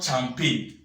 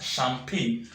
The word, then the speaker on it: champagne: no it's not some painte rather is not jumpy this one here is not jumpy but this word here is pronounced as champagne the same pronounce only go with shampoo this